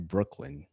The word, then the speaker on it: Breukelen: I have none other than Alex Van Breukelen. Did I pronounce that right, Alex? Yep, you got it right. Breukelen, like the bridge in the borough, man.